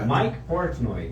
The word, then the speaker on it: Mike Portnoy: Segunda pergunta que ele manda também, o Mike Portnoy, pronunciei correto, será? Não, Mike Portnoy, isso tá correto do Dream Theater,